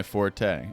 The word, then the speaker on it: forte: Zombies are most definitely not my forte. And you know, that word is actually apparently pronounced fort. F O R T E.